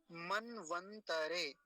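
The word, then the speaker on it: मन्वन्तरे: अब यहाँ एक गलती होती है उच्चारण करने वालों से, मैंने देखा है कई लोगों को उच्चारण करते हुए जो गलत करते हैं, मनवंतरे कहते हैं, मनवंतरे, मनवंतरे नहीं, मनवंतरे, तरे, तकार को पूरा रखेंगे, वो लोग उच्चारण करते समय तकार को आधा कर देते हैं, मनवंतरे कहते हैं, तो मनवंतरे नहीं, मनवंतरे, मनवंतरे, मनवंतरे ऐसा।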